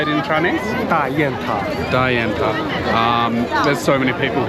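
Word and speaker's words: 大雁塔: here how do you say it in Chinese Da Yan Ta.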